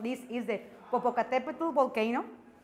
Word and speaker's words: Popocatépetl: So yes, that's the name. And the pronunciation is like this. So you want to repeat it in your home. So that's the way. And there's another way to say it right here, Popocatépetl.